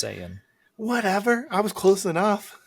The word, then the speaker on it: Saiyan: It is pronounced Saiyan.